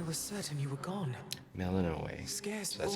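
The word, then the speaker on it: Melinoë: Melinoe. Scarce So that's how you born, pronounce only that.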